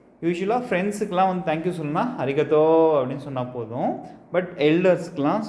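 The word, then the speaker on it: ありがとう: ஸோ இந்த தோ உ இருக்குது பார்த்தீங்களா, இதை வந்துட்டு எப்படி ப்ரொனவுன்ஸ் பண்ணணும்னா ஊங்கிறது ஈங்கிறதுலாம் எலாங்கேஷனுக்காக யூஸ் பண்ணிக்கலாம், ஓகேங்களா? ஸோ தோக்கு அப்புறம் ஊ வச்சுன்னா தோ, ஓகேங்களா? ஸோ நம்ம துணைக்காலுக்கு பதிலாக இப்படி ஊ போட்டுக்க வேண்டியதான், தோ, ஓகேங்களா? ஸோ இங்கே அரிகத்தோ.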